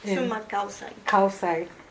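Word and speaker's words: sumak kawsay: Sumac Kausai.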